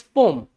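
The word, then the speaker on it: poem: पोयम, इट्स नॉट पोयम, इट्स पोम। क्या है ये? पोम है। क्या है? पोम है। एक्चुअल बात है। बोले सर बचपन से पोयम पढ़ते आ रहे हैं, हम मैं भी पढ़ा हूं, पर अब ये पोयम नहीं रह गया है, बहरूपिया हो गया है, पोम है अभी।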